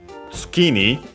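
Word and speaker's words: 月に: So for the first time, tsukini. Here we can hear, by the way, the accent of tsuki because of the following particle ni, tsuki ni, low, high, low.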